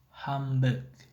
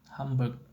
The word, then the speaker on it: handbag: Canonically, handbag is often pronounced Hamburg. In rapid speech, Hamburg. This is because the M and B sounds are both bilabial consonant and their places of articulation are similar.